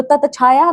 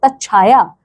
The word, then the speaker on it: तच्छाया: तो ततछाया नहीं कहते हम लोग कहते हैं तच्छाया।